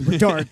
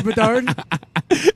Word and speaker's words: Bedard: All right, I got one thing on Connor Bedard. Can I get a second? I got to phone a friend. His last name rhymes with hard.